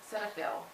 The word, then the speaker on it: Cetaphil: she actually recommended the I think it's pronounced Cetaphil Cetaphil I think that's how it's pronounced cail our set ail